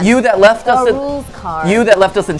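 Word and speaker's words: Rouxls Kaard: Nightfang says, "Rules card is pronounced rules card.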